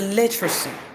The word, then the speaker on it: literacy: Now when it is literacy, tell me which letter there is weak. Which letter do you say? Literacy. The A is weak. Another letter is weak there. Literacy. You see literacy. Literacy. Literacy. Literacy. Only two letters are strong. Uh only two vowels are strong. The remaining two vowels are we are um are weak.